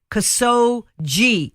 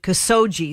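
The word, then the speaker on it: Khashoggi: latest on this guy cuz so G is how you pronounce it cuz so G that was killed in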